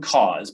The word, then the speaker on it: CAHSS: So it's Common Cause, but cause is spelled CAHSS.